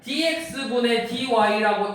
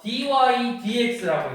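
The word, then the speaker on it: dy/dx: 또는 이제 델타라고 안 쓰고 d라고 쓸 건데 이거 읽을 때 dx분의 dy라고 읽지 않고 요놈 읽을 때는 뭐라고 읽냐면 dy dx라고 읽는 거예요. dy dx라고 읽어요. dx분의 dy를 읽지 않고 dy dx라고 읽는다.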